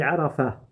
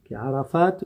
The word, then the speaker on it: Arafat: Donc al-wuquf bi Arafat. Arafat ou Arafat. On peut le prononcer de deux manières.